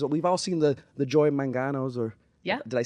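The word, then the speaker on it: Joy Mangano: on HSN because we've all seen the The Joy mangos or yeah did I say her name right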